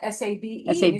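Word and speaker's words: sabe: That what she said is s which is spelled s a be. Wait a minute. Wait a minute. Sab. Sab means to know. Wait a minute. This the wine knows. No, the wine doesn't know. This is sab.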